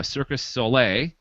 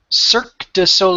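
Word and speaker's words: Cirque du Soleil: in talks with uh Circus Sole to do an Avatar version of Circus Sole. Is that how pronounced? Cir d sole. Oh, circle. Okay. I should be better with my French by now. But I'm not.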